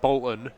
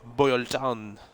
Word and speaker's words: Bolton: Instead of saying Bolton, it's Boylton.